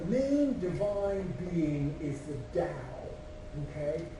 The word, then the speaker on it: Tao: But the main divine being is the Tao, okay? And it's pronounced D-O-W, okay?